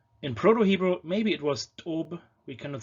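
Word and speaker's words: טוב: And so, for example, the word for good would have been pronounced Tov in Tiberian Hebrew. Tov. In Proto-Hebrew, maybe it was Tob, we cannot say for sure, but in Tiberian Hebrew, Tov.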